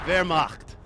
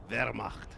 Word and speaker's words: Wehrmacht: But yeah, you want to put a little like throat like roll in that R to really get it. So all you people that have been trolling, pronounce that damn R. Wehrmacht.